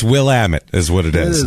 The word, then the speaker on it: Willamette: It's Willamette is what it is.